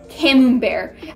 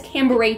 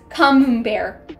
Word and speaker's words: Camembert: However, I've had it so many times, that cheese, but I always, until literally a couple days ago, pronounced it as Cambrai cheese. I thought it was pronounced Cambrai until I saw this